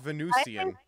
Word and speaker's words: Venusian: how do you pronounce this how do you pronounce this Venu see oh okay it's Venusian you learn something new every day I'm gonna